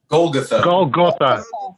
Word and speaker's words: Golgotha: Can I check a pronunciation? Sure. What? Golgotha or Golgotha? Golgotha.